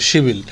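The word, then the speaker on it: 십일: শিব ইল শিব ইল হচ্ছে ইলেভেন মূলত এটার উচ্চারণটা হবে হলো শিবিল আপনারা এর আগের পাঠে দেখেছেন সেটা হলো যে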